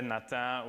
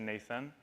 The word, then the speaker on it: Nathan: C'est comme la façon de le dire anglais-français, parce qu'en anglais, c'est Nathan. Mais le TH, c'est dur à prononcer, alors on dit Nathan. Mais sinon, à l'école, les professeurs m'appelaient toujours Nathan.